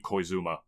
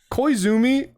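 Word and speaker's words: Yoshiaki Koizumi: again um freaking um I forgot how to pronounce his first name uh it's um yoshiaki koizuma koizumi like I definitely is the next guy in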